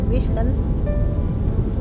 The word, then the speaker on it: Wijchen: What moet zeggen? Wijchen. Oh, Wijchen. kita masuk kota Wichen.